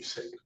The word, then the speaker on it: Singh: name would be Koluaren, last name would be Singh. Singh, I'm sorry for that. Parents counsel? Joanie Carey for the people. Thank you attorney Mercy on behalf of Mr. Singh and he's seated to my right as well.